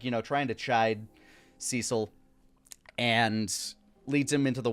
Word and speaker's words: Cecil: cesil like needs to like cesil and his organization steps in I'm 99% sure it's Cecil I don't know you're you're correct I I I just think I'm thinking about it phonetically and maybe I'm conflating it with Sideshow Bob's brother uh but uh Cecil